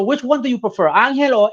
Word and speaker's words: Angel: you prefer angel or angel or doesn't it matter we can go with angel i mean really the story behind that is that my name is angel right like in spanish it's angel um but your parents